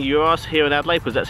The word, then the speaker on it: Yiros: good euros keep in mind i am saying euros here in adelaide because that's how we pronounce it in other countries it's pronounced gyros or souvlaki depending where you're from but because